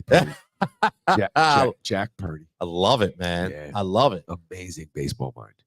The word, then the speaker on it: Purdy: Rhymes with Purdy in San Francisco, I think. But It is actually Purdy.